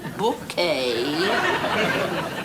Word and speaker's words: Bucket: Bouquet. The accent on the second syllable. Ah, Mrs. Bucket.